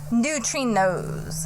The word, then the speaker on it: neutrinos: trinos new tree nose I had to write it out like n-e-w-t-r-e when she was telling n-o-s-e even though it's not how I spell it I'm like new tree nose and so neutrinos when she was telling me I was like wait is that like three different words or it's like one word like I don't understand